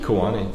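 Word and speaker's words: Ku'ani: Kuwani, yes. That's how you spell that, please.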